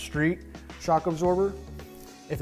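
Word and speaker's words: STR.T: have our orange non-adjustable strt pronounced street shock absorber if it's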